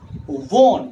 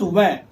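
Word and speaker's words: wan: Mind the pronunciation. W-A-N is worn, not when. Mind you, it is worn, not when. Don't go by what others say. Consult a very good dictionary and you'll find that the standard pronunciation is worn. There is only one pronunciation, which is worn. As in sworn.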